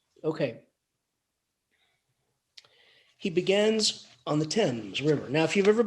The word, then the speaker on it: Thames: is the river and it's spelled Thames but it's Thames the Thames river is